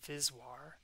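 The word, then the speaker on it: VSWR: And so we can define something called the viswr, V-S-W-R, pronounced viswr.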